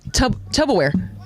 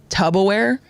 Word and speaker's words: Tupperware: One more, first syllable, Tupperware. Say it again, Tupperware. Say the first syllable again, tub. Wrong. That's that Tupper. famous one because Yeah. one of the Basement Yard boys keeps saying Tubaware.